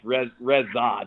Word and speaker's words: Rezac: Most people don't get that CH sound at the end. It's Rezac. It's like a weird A type of sound. Yeah, it's Bohemian. I've been told that's how it's supposed to be pronounced, so I've just kind of rolled with it.